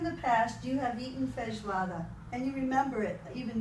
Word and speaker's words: Feijoada: How do you spell it? F-E-I. F-E-I-J-O-A-D-A. Okay, so you said, I have eaten. Feijoada.